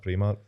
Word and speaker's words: Primark: you how do you see it play market Primark so pretty much great that's probably more confidence tell me was spell it out right it's the same as primary